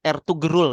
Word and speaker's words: Ertugrul: ditulisnya Ertugrul gitu ya. Iya. Cuman dibacanya itu Ertugrul memang. G-nya hilang ya.